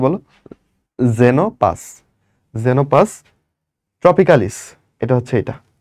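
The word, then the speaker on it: Xenopus: হচ্ছে জেনোপাস, এটা কিন্তু এক্স যদি শুরুতে থাকে তারপর যদি ভাওয়েল থাকে উচ্চারণটা হবে জে এর মতো। ওকে, তাহলে এটার নাম কি বলো? জেনোপাস।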